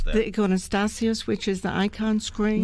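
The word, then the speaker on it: iconostasis: How do you pronounce that? The iconostasios, which is the icon screen. Iconostasios? Iconostasios?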